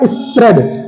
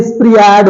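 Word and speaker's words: spread: silent है अगला है स्प्रेड वैसे देखा जाए तो स्प्रिड होगा स्प्रिड होगा लेकिन क्या इसे स्प्रिड बोलते हैं नहीं इसमें ए साइलेंट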